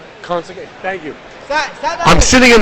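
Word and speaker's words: Conceição: Conceicao.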